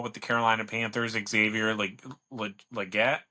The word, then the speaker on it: Legette: I think that the number 32 pick overall with the Carolina Panthers, Xavier Legette, is that how you pronounce his last name? Yeah, Leggett.